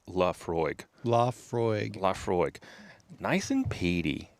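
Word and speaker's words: Laphroaig: Oh, and and thank you our one uh esteemed listener for this beautiful bottle of 10-year Leafroy. Leafroy. Oh, it even says it on here. Pronounced Laafroy.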